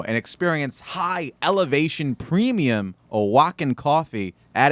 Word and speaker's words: Oaxaca: From Oaxaca. Are you impressed that I knew Is how that to how you pronounce that?